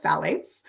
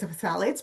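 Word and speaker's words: phthalates: So, I want to start with phalates. The the pH is silent. I always think of Daffy Duck when I see this word for phalates, but the pH is silent.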